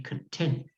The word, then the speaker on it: content: To be happy in your life is to be content with a t, not a d.